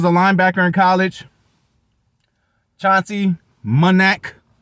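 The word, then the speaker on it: Manac: linebacker in college chauncey monac i want to say manic but i believe it's pronounced um of course at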